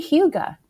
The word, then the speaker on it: hygge: That would be very hygge. So hygge, I didn't know how to pronounce it until I looked it up for you guys.